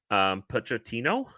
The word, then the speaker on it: Pochettino: It's a name I've seen recently, and I'm going to butcher the pronunciation. Pochettino, Mauricio.